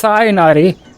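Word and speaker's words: Tighnari: the finger um okay you're getting the H it's not a silent h it's cyanari this dustbird is a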